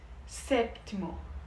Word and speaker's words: séptimo: Tem esse pezinho. S séptimo.